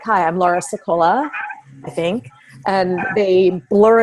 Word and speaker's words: Sicola: I say my name I'd say I'm Laura sekolah Laura sekolah instead of Laura Scola like right so when